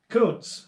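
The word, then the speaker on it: Kountze: much time scrolling here koontz that's how you pronounce that town thank you coons texas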